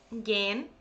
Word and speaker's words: gehen: So for example, gehen. Many people find it weird because the stem would be ge. So just make sure to prolong in pronunciation. So ich gehe, du gehst, sie, es geht, geht. Okay, so basically when h stands without c, okay, then it's not pronounced, but you need to prolong the verb.